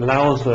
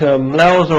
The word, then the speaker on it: Lao Tzu: in the ancient days, Lao Tzu he's called. Sometimes it's pronounced as Lao Tzu, but I believe that's the wrong pronunciation.